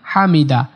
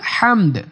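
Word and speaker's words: الحمد: লাকাল হামদ রব্বানা লাকাল হামদ রব্বানা লাকাল হামদ হামদ বলা যাবে না হামদ এরকম বলে বলা যাবে না হামদ লাস্টে দাল একটু কলকলা করতে হবে হামদ এরকম হবে হামদ হামদ রব্বানা লাকাল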